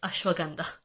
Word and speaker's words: ashwagandha: Like ashwagandha and Himalayas, it's Himalayas and it's ashwagandha.